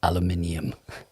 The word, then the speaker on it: aluminium: When I'm doing my synthetic, because that's how it's spelt. That's why we say aluminium. I mean, actually, there is a missing letter in the American version, isn't it? So it's sort of fair enough. It's internally consistent.